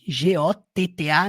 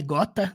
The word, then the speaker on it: gotta: E aí, got, aquele G-O-T-T-A, não é gota, também fica gotta do.